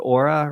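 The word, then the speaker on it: Oura: you recently wrote about the i believe you pronounce it aura ring is that yes which i'm still wearing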